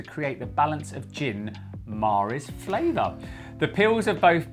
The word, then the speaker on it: Mare: The gin we're trying today is Gin Mare, pronounced Mare. Some people call it Gin Mare, but it's Mare.